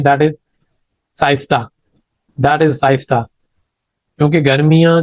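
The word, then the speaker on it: siesta: मिड डे नेप आर रेस्ट इन hot countries like Pakistan, that is साइस्टा। ठीक है, तो that you can pronounce it एज सस्ता।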